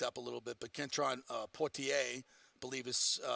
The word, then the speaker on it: Kentron Poitier: He's been nicked up a little bit, but Kentron Poitier, believe is how most of us pronounce his name.